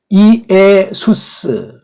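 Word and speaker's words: Ἰησοῦς: 발음 한번 해볼까요? 이에수스, 이에수, 이에순 그렇게 읽어야 돼.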